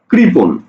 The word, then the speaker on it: কৃপণ: ওকে, আমি যখন এই কৃপণ শব্দটাকে উচ্চারণ করব, তখন কৃপণ, দেখো তো মূর্ধন্যয়ের উচ্চারণ কি হলো? দন্তান্ন হয়ে গেল। অর্থাৎ অর্থাৎ মূর্ধন্যয়ের নিজস্ব কোনো উচ্চারণ নাই। মূর্ধন্যয়ের উচ্চারণ হয় কার মতো? মূর্ধন্যয়ের উচ্চারণ হয় দন্ত নয়ের মতো।